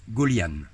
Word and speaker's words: Gøljan: pénible fini s 37 comment prend-on votre nom ça se prononce gaullienne que significative alors gaullienne